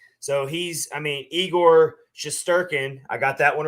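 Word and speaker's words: Shesterkin: up that list so he's i mean igor shasturkin i got that one right rich you did it awesome it's finally pronounced finally i pronounced this poor uh guy's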